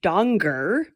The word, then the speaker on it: Danger: Our main character is Rico Donger. It's spelled danger.